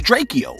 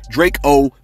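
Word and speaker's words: Drakeo: the Ruler, that's right, I've been pronouncing the man's name wrong all along. Cause look, check this out, man. It was no disrespect, you know what I mean? It's just that, like, when I grew up, right, I just learned how to pronounce and read words phonetically. You know what I'm saying? So when I didn't see a dash, I thought it was Draco.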